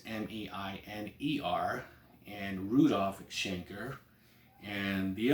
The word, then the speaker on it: Klaus Meine: He's pronounced here Klaus Miner, so it's Miner, and Rudolf Schenker.